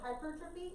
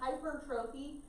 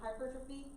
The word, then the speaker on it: hypertrophy: So hypertrophy is how you're technically supposed to say it. So hypertrophy. Now it looks like hypertrophy. Please don't say it like that. So hypertrophy. So just make a note for that.